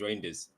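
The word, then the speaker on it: Reijnders: I was told by by somebody Dutch saying it's Reinders. Uh the court told me to say reindeers. Yeah, the pronunciation is reindeers. Right. Okay. So, reindeers.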